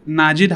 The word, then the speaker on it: Najid: आप आधी जिंदगी तो आप नाम समझाने में ही गुजर जाती होगी, भाई NAJID नाजिद।